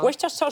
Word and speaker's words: Worcestershire: Comment tu prononces ça? Worcestershire sauce.